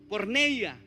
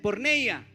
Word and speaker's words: porneia: Porneia en griego, ¿cómo se dice? Porneia.